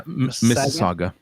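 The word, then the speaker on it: Mississauga: Um, I've got a very big neck who work in a town I can't pronounce called Missagua. Is that how you say it? Missagua. Yeah. Missaga.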